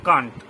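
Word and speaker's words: can't: সেন্ট এর উচ্চারণ সেন্ট, কিন্তু ক্যান্ট এর উচ্চারণ কান্ট।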